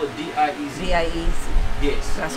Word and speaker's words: diez: And I think we spell it D-I-E-Z. D-I-E-Z. Yes. That's correct. Okay. She pronounced it diez, I pronounce it diez. I think every other Spanish speaker in the world pronounces it diez.